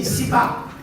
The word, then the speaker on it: CIPAA: Please pronounce it properly. CIPAA, right? Not CIPAA. So it's CIPAA, and you go anywhere in the industry, it is known CIPAA is statutory adjudication, where it's compulsory.